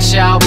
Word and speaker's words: Shoup: Schaub, not Shoop, now you got the facts straight.